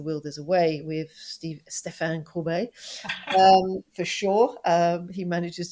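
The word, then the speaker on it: Stéphane: That was Stefan, though. It's not Stephen. Oh, yes, Stefan. Stephen. No, it's Stefan. If I'm going to say Corbet, I must say Stefan.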